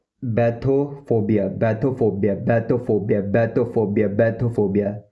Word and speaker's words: bathophobia: इसको बोलते हैं बैथोफोबिया बैथोफोबिया बैथोफोबिया बैथोफोबिया बैथोफोबिया।